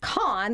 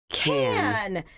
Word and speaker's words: Cannes: So an S is rarely pronounced in French when it's the last letter in a word. That's correct. So which leaves to can.